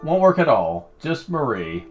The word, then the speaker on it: Marie: Because that name is pronounced different than how it usually is. All the times I've heard it, they call her Marie Antoinette, not Mary.